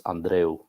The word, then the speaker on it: Andreu: origin, even though I am from Cuba, and in Spanish it's Andreu.